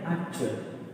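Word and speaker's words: actual: यू ए एल, तो ये क्या हो गया, एक्चुअल।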